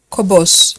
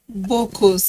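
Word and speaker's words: Bokkos: Kobos. Well, okay, remind me how they pronounce it. You're from Jos. Bokos.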